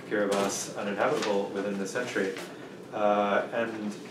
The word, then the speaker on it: Kiribati: the central pacific called kiribati it's spelled like kiribati but that is a